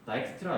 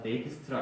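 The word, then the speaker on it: Dijkstra: 컴퓨터 과학 분야의 노벨상이라고 불리는 상인데, 이 사람이 만든 알고리즘이, 이 사람이 1956년에 다익스트라 알고리즘, 발음에 따라서 데이크스트라 알고리즘이라고도 부르는데요.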